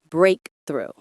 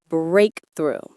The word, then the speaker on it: breakthrough: The stress is on the first syllable. Breakthrough. Breakthrough. Pay attention to that th sound in through. It's a soft sound made with your tongue just behind your top teeth. Through. Now say the whole word with me. Breakthrough.